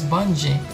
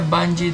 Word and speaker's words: Bunge: Yung unang tawag ko dito is Bungee. Pero sabi nila Bungee daw yung tamang pronunciation.